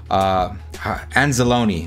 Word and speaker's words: Anzalone: We have Gardner Johnson, Malcolm Rodriguez, Barnes, Campbell, Anzalone.